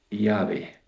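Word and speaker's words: Yahvé: antiguos que conocen el hebreo antiguo a la pronunciación del nombre de Dios es Yahé. Yahé, no Yahé como decimos los argentinos con y decimos Yah, sino Yahé.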